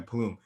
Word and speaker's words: Plume: Am I pronouncing that right? It's Plume, right? Yeah, Plume.